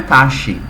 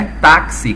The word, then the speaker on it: táxi: Claro, aqui, pessoal, a nossa pronúncia não é taxi, tá? É táxi com som de KS, tá?